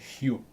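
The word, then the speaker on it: ひょ: Excusez-moi, c'est pas yo, c'est hyo. Vous prononcez le H devant.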